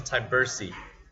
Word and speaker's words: Tyburczy: asked i i need to ask you to pronounce your last name uh my last name is tybursi cybersee tybersee diversity okay not so hard it's